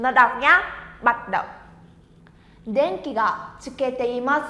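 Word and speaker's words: でんき: Từ này chúng ta đọc là đèn kỳ.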